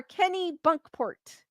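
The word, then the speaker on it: Kennebunkport: you Carol because I knew I was not pronouncing it correctly I didn't know nerder part is in the house kenport or Kenny bunkport Kenny bunkport Chapman in located at two Church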